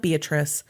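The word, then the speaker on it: Beatrice: been bitterly cold in beatric Nebraska spelled like beatric pronounced beatric it's a town of almost 13,000 in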